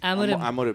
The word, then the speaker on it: Amorim: Amorim. Amorim. So apparently, according to a very reputed media outlet, Daily Mail, they said that West Ham was actually in talks to sign Amorim last season, but they thought it'll be too